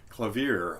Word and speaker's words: clavier: it's from the well-tempered clavier clavier I believe is how that word is pronounced which was a set